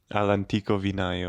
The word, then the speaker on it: All'Antico Vinaio: I don't know if they have one in Milan, but how do you pronounce it? All'Antico Vinaio.